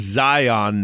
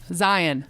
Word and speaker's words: Zion: It's not Zion National Park. It's Zion. Zion. You got is it. how it's pronounced.